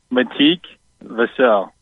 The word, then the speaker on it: Matik Vassell: Do we know the pronunciation? Yes. Matik Vassell. Vassell. We should have known Vessel was too simple.